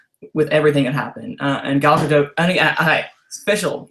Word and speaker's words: Gal Gadot: everything had happened and gal gadot hi special you're hearing right now how to say it she said it herself gallica dote that's how you say it guys let it end now gal gadot but anyway um she